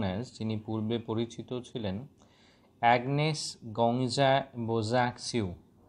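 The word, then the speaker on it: Agnes Gonxha Bojaxhiu: সত্তা ছিল, এন্টিটি ছিল, ফর্মারলি নোন অ্যাজ, এর প্রোনাউন্সিয়েশনটা আমি দুবার তিনবার বলছি, খেয়াল রাখবে, ফর্মারলি নোন অ্যাজ, যিনি পূর্বে পরিচিত ছিলেন, অ্যাগনেস গঙ্গজা বোজ্যাক্সিউ, অ্যাগনেস গঙ্গজা বোজ্যাক্সিউ, অ্যাগনেস গঙ্গজা বোজ্যাক্সিউ, was born in স্কপজিদা, then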